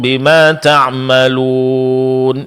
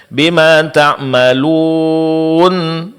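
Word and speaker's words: بما تعملون: Ya, wallahu bima wallahu basirun bimaa tammalun. Dibaca bima tammalun. Nah, ini juga kesalahan.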